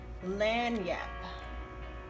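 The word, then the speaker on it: lagniappe: lanyap is pronounced so go ahead and screenshot this message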